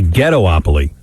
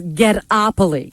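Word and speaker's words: Ghettopoly: black and minority people it's actually ghetto opaly no it's not ghetto opoly it's get opoli get opoli yes there's no get o opoly it's get opolis how do you spell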